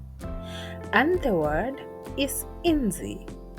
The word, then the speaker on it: inzi: The next letter is also a vowel, and it is pronounced as E. E. And the word is inzi. inzi, meaning fly in English.